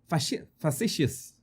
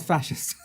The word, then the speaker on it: facetious: No, not fascist. Not a fascist. No, I need to look for the pronunciation of that word again. I always forget it. It's not fascist. No, it's is this word? Facetious. Facetious. I am being facetious.